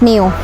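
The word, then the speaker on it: ν: e = s New อัน นี้ อ่าน ว่า New นะ คะ ตัว งอ แบบ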